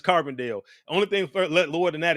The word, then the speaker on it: Carbondale: Carbondale. Carbondale.